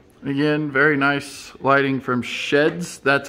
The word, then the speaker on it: SHEHDS: finally get there uh basically it's like an outdoor shed or sheds it just is pronounced differently so if you're wondering how you pronounce their deal is sheds we do have two